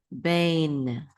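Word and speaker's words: בין: tzere, which says be, and then the yud, be, and then nun sofit, bain, with the nun sofit, bain, 1 syllable, which means between.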